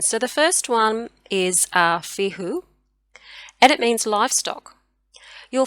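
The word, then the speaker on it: Fehu: So fihu, or I pronounce it Fio. I do pronounce the runes slightly differently to how they're typically pronounced or written.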